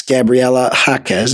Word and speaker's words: Gabriela Jaquez: She led the game in points, Gabriela Jaquez, is how you say it.